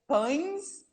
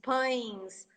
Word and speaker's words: pães: Oh, because of the nasal sound, for sure. They're definitely the most difficult words for me to pronounce. Definitely. Yeah, but I think actually I know why, because N in Portuguese, most of our N's, they go to our nose.